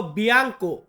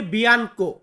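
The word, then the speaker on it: bianco: সাদা কোন একটা জিনিস সাদা কালার, এটাকে আমরা বলবো বিয়াঙ্কো। বিয়াঙ্কো মানে সাদা। অনেকে আমরা বলি বিয়ানকো। তো বিয়ানকো বিয়াঙ্কো দুইটা একই।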